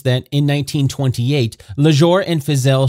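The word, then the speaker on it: Fiszel: Fizelle, or Phil, is spelled F-I-S-Z-E-L.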